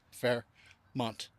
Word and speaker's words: Fairmount: Fairmount Park. I am famous for mispronouncing things in Pennsylvania. Fairmount. It's Fairmount. Fairmount Park.